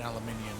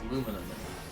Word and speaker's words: aluminium: know it's funny Smiley you said it wrong there it's luminum it's aluminium and it always has been since the invention of